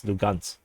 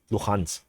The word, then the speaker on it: Luhansk: I think the Russians pronounce it as Lugansk, and then the Ukrainian pronounce it at Luhansk.